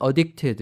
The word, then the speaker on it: addicted: 그래서 과거 분사형은 addicted 이렇게 발음을 하셔야 됩니다.